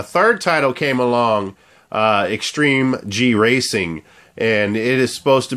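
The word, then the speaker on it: Extreme-G 3: mispronounced this earlier uh it's not xg3 extreme racing it's extreme G racing part three okay uh all I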